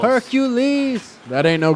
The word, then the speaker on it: Hercules: Hercules hurt my knees Hercules that's three syllables Hercules that ain't no G